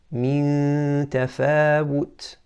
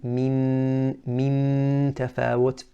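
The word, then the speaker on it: مِن تَفَاوُت: So to pronounce it again, min tafawut. And we're not saying min tafawut. Now you're hearing the noon, that's incorrect.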